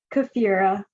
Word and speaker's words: Kefira: prince kathira you guys please pronounce it correctly just think of shakira kefira um but yeah that's